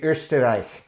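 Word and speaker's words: Österreich: eggenberg out of austria or as they would say ursterich there is a beer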